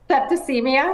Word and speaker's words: septicemia: How do you pronounce that? Septicemia.